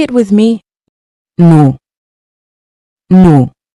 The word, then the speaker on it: nous: Then for we use nous. It is used when referring to a group that includes yourself and others. Say it with me. Nous. Nous. Remember, the S is silent, unless followed by a vowel.